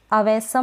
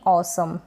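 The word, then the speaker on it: awesome: फिर यह है ऑसम इसको हम ऑसम पढ़ेंगे यानी कि बहुत बढ़िया ऑसम अवसम नहीं ऑसम नेक्स्ट है यह जो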